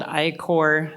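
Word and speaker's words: I-Corps: through a program called iore No One pronounces the P it's i-c RPS um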